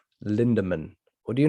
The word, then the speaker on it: Lindemann: You are So- putting an R. Linderman. Yeah, no, it's Lindemann.